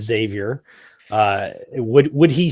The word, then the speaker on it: Xavier: would professor Professor Xavier who I will say through correct pronunciations and despite what Stanley says his name is Xavier would would he say